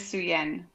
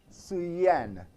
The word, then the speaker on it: Souyenne: How do you pronounce the first name? My first name is Souyenne. Souyenne.